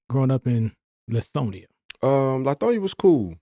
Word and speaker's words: Lithonia: What was life like growing up in Lithonia? Lithonia was cool. Oh, it's Lithonia. Lithonia. Let me get it right. Lithonia, however you want to pronounce it, however it rolls.